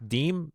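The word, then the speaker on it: disme: And it's called a half dismy or half deem, depending on how you want to pronounce it. Yep, deem is French, and we enunciated dismy.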